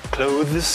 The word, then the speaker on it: clothes: que no inglês americano a galera tende a pronunciar a palavra clothes, que é assim que tá lá na transcrição fonética, porque a galera fala close, igualzinho o verbo fechar.